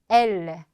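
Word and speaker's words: elles: 자, 그 다음 그들, il, 그녀들, elle. 에서 자, 발음 들으셨으면 딱 아시겠지만 3인칭 단수와 복수가 발음이 똑같습니다. 왜냐하면 끝에 자음 s는 발음되지 않기 때문에.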